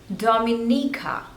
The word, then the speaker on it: Dominica: Denmark this one is Dominica there are total Force labels and you have to stress on the third one Dominica Dominica Dominica Dominica